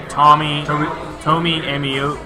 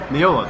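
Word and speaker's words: Meola: Tomi Amio. Miola.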